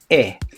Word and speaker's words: he: but it is pronounced e because in spanish okay the letter h is silent letter okay it is not